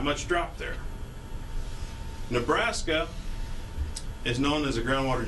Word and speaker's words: Nebraska: the us some facts about Nebraska US locals pronounce it Nebraska not Nebraska not Nebraska but Nebraska it comes from an Oto Indian term meaning